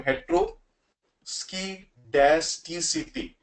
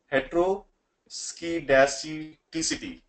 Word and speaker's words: heteroscedasticity: So that's why I mean it's very very difficult for me to pronounce multiple times. So heteroscedasticity, heteroscedasticity, right?